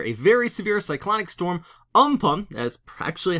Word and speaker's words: Amphan: see right here a very severe cyclonic storm on pump as practially how it's pronounced over central and southern areas of the